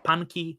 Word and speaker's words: Phunky: my name yeah because some some languages the pH is a like it's an aspirated thing I I like studied